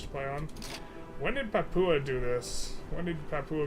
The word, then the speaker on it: Papua: It's pronounced Papua. It's pronounced Papua? Okay. Fair enough. Papua.